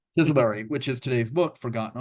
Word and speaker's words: Chiselbury: his first book deal with, I'm going to mispronounce this, Chilesbury Publishing, Chiselbury. Chisselberry, which is today's book, Forgotten Armor, Tank Warfare in Burma.